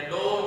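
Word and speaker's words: dough: Bread and wheat डफ या डो, जिसे आप प्रोनाउंसिएट कर सकते हैं व्हीट डो, जिस तरह हम खमीरी रोटी बना लेते हैं।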